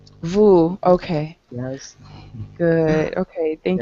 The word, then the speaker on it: Vu: Can you tell me the correct pronunciation of your name? Vu? Vu.